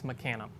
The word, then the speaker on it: mecanum: guess one last question is it pronounced mechanum or mecanum it's mechanum you heard it here